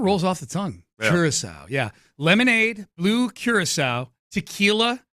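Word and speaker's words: Curaçao: Curacao, okay. And I've never known how to pronounce it.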